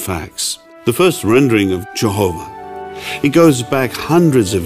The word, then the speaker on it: Jehovah: The first rendering of Jehovah. It goes back hundreds of years. You may not have thought of this, but the Bible goes back thousands of years. The first rendering of Jehovah appeared in 1530 in William Tyndale's translation of